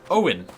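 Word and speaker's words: Eogan: Owen. Eogin, as it's spelled in Irish. E-O-G-A-N.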